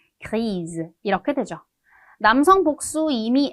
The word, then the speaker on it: grise: 여성형 뒤에 을을 붙여주다 보니까 발음이 좀 바뀌어요. 읽어볼게요. grise, grise 이렇게 되죠.